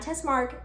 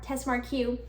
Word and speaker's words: Tess Marque: videos with tess marque i've been saying her name wrong whoops not test mark test marquee she and i are